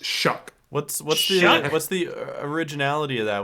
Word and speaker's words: Shough: This is how it's spelled, and that is how you say Shuck. What do you mean that doesn't say shoe? SHOUGH. SHOUGH is how it's spelled, and it's pronounced Shuck.